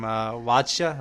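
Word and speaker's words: Wajda: Vadsha? How do you say his name? With W's a V, but yeah, Yeah.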